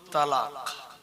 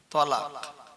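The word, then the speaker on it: طلاق: দেখেন কোরআন শরীফের একটা সূরা আছে 28 পারায়, সূরাটার নাম সূরাতুত তালাক। তালাক আমরা যেটা তালাক বলি ওটা আসলে শব্দটা উচ্চারণ হবে তলাক। তৈ দিয়ে, তো তা দিয়ে না।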